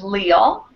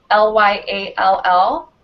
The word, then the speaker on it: Lyall: And my first one is LYALL, L-Y-A-L-L. This name can also be pronounced Lyall, but I chose this spelling because, like I first mentioned, it can be pronounced Lyall as well.